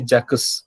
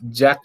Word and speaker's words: Jacques: Now, you should pay keen attention towards the pronunciation of the names. I said not, I didn't say Jacques, it's Jacques Derrida, Michel Foucault, and Roland Barthes.